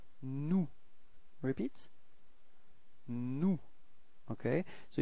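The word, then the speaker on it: nous: of the plural it's new repeat no okay so you've got this final s but you don't pronounce it okay new mhm and then comes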